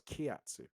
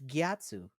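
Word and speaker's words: Gyatso: mon gatu gatu yeah with a G gatu yes is that how you say it thought it was KATU it's gatu are you sure I'm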